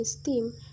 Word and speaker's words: esteem: The words present, factual, and seldom receive the primary stress on the first syllable, while the words reserve, explore, and esteem receive the primary stress on the second syllable.